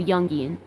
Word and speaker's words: Jungian: Alyssa Chapman says it's pronounced like the Y, so Jungian.